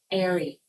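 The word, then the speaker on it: eyrie: Airy.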